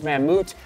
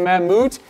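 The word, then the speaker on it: Mammut: it's a rain slash a windbreaker basically there's manmoot that's how you spell it m-a-m-m-u-t there on the back who is a fan of mammoot thank you oh we love the colorway of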